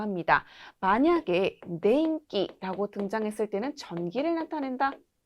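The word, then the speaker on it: 天気: 자, 앞에 있는 요 한자는 바로 날씨입니다. 읽는 방법 주의하셔야 되는데요. 덴기, 날씨는 덴기라고 합니다. 만약에 덴기라고 등장했을 때는 전기를 나타낸다.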